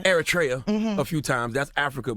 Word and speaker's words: Eritrea: He's an Eritrean Jew.